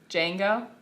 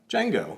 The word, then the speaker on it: Django: cute what's his name django django yeah yeah with the d the d is silent and he's never unchained